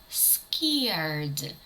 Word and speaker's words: scared: звук буде випадати наприклад слово scared Наляканий scared звук rр ми не чуємо це може траплятися Коли